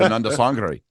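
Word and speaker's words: Anandasangaree: My Tamil friends say it's Ananda Sangre.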